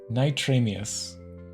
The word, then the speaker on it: NitramiuZ: Because I saw NitramiuZ. It comes from if you take Martin in reverse and then you add a IS. That's where it comes from. Okay. NitramiuZ.